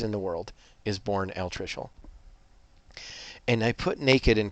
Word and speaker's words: altricial: It's altricial. So let me pronounce it for you one more time.